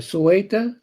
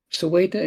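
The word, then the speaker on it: Ceuta: Most of these people are coming from Morocco into how is that city pronounced? Uh Sueta. Sueta in Spain.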